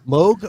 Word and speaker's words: Moog: mum is it mum Moog rhymes with Vogue museum museum mum you